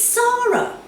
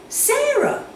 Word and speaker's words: Sarah: say Sarah Sarah but my name is Sarah I hate that when people get my name wrong I tell them it's sorrow but they still say Sarah really annoying I mean